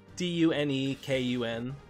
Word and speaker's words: Dunekun: Dunekun. Okay. Kun like the Japanese, not like the slur.